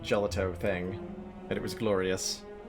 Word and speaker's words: gelato: out of your mouse it's pronounced gelato not gelato gotcha really really yellow